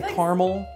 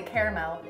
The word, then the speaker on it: caramel: So like I say caramel. I say caramel. Yeah. See, but that's three syllables instead of two. Why wouldn't you just do two?